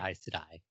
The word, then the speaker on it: Aes Sedai: Yeah, but you're supposed to say Aes Sedai. Pronunciation's fake, actually.